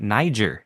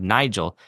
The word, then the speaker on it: Nigel: Maybe I misheard, but it sounded like you were pronouncing his name like Niger instead of Nigel.